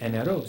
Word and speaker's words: Amero: So and it was spelled, Amero. And so they get off the boat and they said, "What's your name?" They said Amero. So they were writing it down phonetically, Amero.